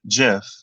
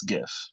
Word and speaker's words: GIF: uh decided but the the person who created the gif format said that it's pronounced jif and people are still like no it's gif right it's like when